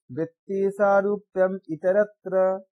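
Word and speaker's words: वृत्तिसारूप्यमितरत्र: हमारा वृत्ति रहेगा, या इसको हम अगर पूरा उच्चारण करेंगे तो कैसा आएगा, वृत्ति सारूप्यम इतरत्र, इसको मर्ज करके लिखता है वृत्ति सारूप्यम इतरत्र,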